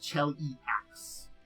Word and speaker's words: Cheliax: And it is pronounced Cheliax.